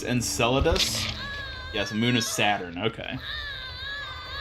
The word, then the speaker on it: Enceladus: been visited by aliens probably not it's pronounced Enceladus yes moon of Saturn okay I think there